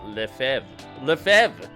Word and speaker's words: Lefebvre: Okay, in French, the B is generally silent. The name is pronounced roughly as Lefebvre.